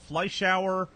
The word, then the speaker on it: Fleischauer: Fleisch to Think of a fly in the shower.